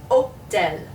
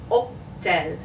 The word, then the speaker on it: hôtel: So this is hôtel, hôtel.